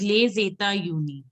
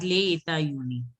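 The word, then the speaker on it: Les États-Unis: See, this has to be pronounced as Le Zeta Uni. But I am telling you for now, you pronounce it as Le Eta Uni. But it is Le Zeta Uni. Le Zeta Uni. Okay. So the pronunciation which I will give you the recording, I'll give you of Le Zeta Uni, the right pronunciation.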